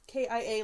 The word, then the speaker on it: Kea: is dawn dawn Henderson Kea socks ki-yay like the car I asked her how